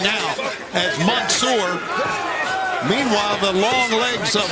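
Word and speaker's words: Mansoor: one and look at manour for the choke I believe the proper pronunciation Tony is Monsour Monsour manour I apologize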